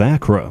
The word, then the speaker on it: Achra: Path of Acra is not only the Acra, okay, that is how it's pronounced.